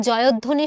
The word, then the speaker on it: জয়ধ্বনি: তারপরে দেখো কি বলা হচ্ছে, জয়ধ্বনি শব্দটির সঠিক উচ্চারণ কোনটি? এখানেও একটা বফলা আছে এবং শব্দের মাঝে, তো বফলাটা তো উচ্চারিত হবে না কিন্তু ও ডাবল করে দিবে।